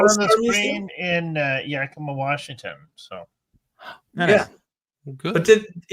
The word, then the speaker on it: Yakima: How do you pronounce it? It's Yakima.